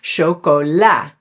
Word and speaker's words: chocola: For example, "chocola" or "chocolade". You can say both, which resembles "chocolat" in French, and "chef", which is